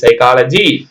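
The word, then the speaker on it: psychology: ஹச் கூட silent மாதிரி இருக்கு சைக்கா ல ஜி சைக்காலஜி பிச் பிச் ல பி எஸ் ஒய் சிச் ஓ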